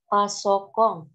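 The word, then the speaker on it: パソコン: Kalau begitu tidak usah di audionya pasokong. Pasokong. Bacanya pasokong. Seperti romaji yang tertulis, bacanya pasokong.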